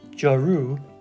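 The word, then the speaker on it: جارو: So remember, don't say it's not jaru, jaru, because even though you're pronouncing jaw and the ru right, the emphasis goes, as you can see where our period is, just slightly on the R.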